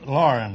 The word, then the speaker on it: Loughran: Loughran, huh? Is that the way you pronounce it? Lauren, that's close enough. I've been called Langhorn, Laughlin, McLaughlin, and lots of... Longhorn, that's a steer, isn't it?